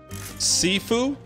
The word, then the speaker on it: Sifu: checking that's new game thursday we're checking out saifu is that what it's called sifu it's kind of like how you pronounce um what's the wolf's name in dark